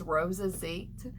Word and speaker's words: Rosasite: Next up is Rosazite. It's this deeper green. It's very sparkly. It's gorgeous, and the energy is just fabulous. I mean, it has just an insane amount of energy. Rosazite is spelled Rosasite.